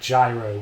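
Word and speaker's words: gyros: offs um I think You' probably say it like gyro wouldn't you probably we have a really nice gyos place near us yeah I mean I suppose giros is the way the Greeks say it okay and you're Greek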